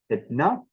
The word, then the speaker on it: henna: If you want to speak the way that a Cornish speaker, or for that matter, a Welsh speaker would pronounce words like these, you would have to say hitna and pen, pen.